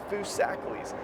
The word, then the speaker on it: Foosackly's: That's Foosackly's. I made an entire video about pronunciations, and the reason I did that is because it's very important.